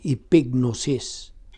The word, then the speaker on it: epignosis: Epinosis, o imo pagod ning i-pronounce epignosis, Epignosis, meaning kaalam.